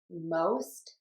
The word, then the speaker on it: most: But there are times, and this is very common, when we have OST, where we're going to say a long O. And that would be in the words moʊst, hoʊst, poʊst, and goʊst.